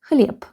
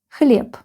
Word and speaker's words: хлеб: If this letter is in the end of the word, it is pronounced like P. So we get ХЛЕБ. ХЛЕБ.